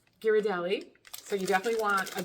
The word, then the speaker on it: Ghirardelli: Ghirardelli. Ghirardelli.